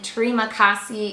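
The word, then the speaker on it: terima kasih: we learned hello which is hallo and then Tre makassi is how you say thank you additionally with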